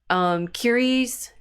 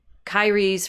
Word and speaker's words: Kyrie: he's tweeting a response to Curie's. I want to say Curie, and that's not the way they say his name. Um, that Kanye West shares a clip from Kyrie's response along with Bible